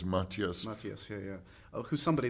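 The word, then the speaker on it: Matthias: film definitely um Maas am I corre correctly pronouncing his he doesn't mind how you say but it's Mattias Mattias yeah yeah who's somebody that I think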